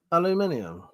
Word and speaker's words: aluminium: Say aluminium. That's the right way to pronounce it. Ain't you fucking start with me? You fucking Americans. There's no fuck. It has a fucking eye in the end of it.